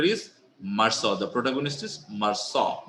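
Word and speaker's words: Meursault: UL T in in normal sense you'll say maral but it is maral it is a French name so U don't uh you have to pronounce it uh like uh like the French people does they saw marau okay so the name of the character is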